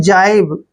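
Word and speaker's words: jibe: जे ए आई बीई इसको पढ़ते हैं हम जाइब जिब भी पढ़ देते हैं इसको लेकिन जाइब ज्यादा बेटर रहेगा जाइब जाइब होता है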